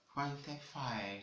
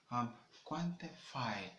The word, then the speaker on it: quantify: So in the British, where you have the A sound, okay? So in the American version of it, in terms of pronunciation, you have the short sound, okay? That is the central vowel, alright?